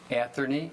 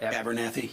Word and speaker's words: Abernathy: And your plan would be to go ahead and build Atherny, how do you say it? Abernathy, yeah.